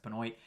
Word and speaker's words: Benoit: It's not pronounced like Chris Benoit, like we pronounce Benoit up in Canada. It's pronounced Benoit.